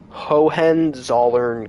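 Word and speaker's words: Hohenzollern: have no idea but It's H O H E N like Hohen and then Z O L L E R N like Zern. Hohen Zern Castle.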